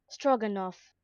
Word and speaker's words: stroganoff: It's pronounced I ate it all. Stroganoff.